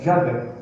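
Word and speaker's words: Yahweh: à conclusão de que a melhor, a provável, melhor maneira de pronunciar o nome de Deus é Yahé.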